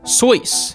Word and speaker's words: Seuss: Seuss the popular children's book author his name was actually supposed to be pronounced as sois which rhymes with voice that is so weird